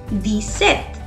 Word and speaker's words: dix-sept: Never ever pronounce the P in it and we'd say it as dix-sept.